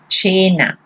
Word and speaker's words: cena: So here, let's see, cena, okay? Why you say cena? Because here, the A, here it is a soft vowel.